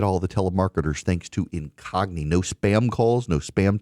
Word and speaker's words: Incogni: Incogni is spelled I N C O G N I. Incogni. Like incognito. Incogni.